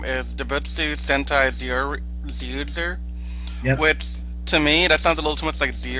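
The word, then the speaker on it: Zyuohger: Well, actually, the way most people would pronounce it, they would say Ju Oger, with a J.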